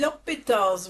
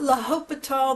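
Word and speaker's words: L'Hôpital: Today we're going to be solving a limit using L'Hopital's rule and it's not L'Hopital, the H is silent, L'Hopital.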